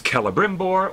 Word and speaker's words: Celebrimbor: When you have the letter C at the beginning of an Elvish word, Celebrimbor. It's Celebrimbor or Celeborn. It's never C.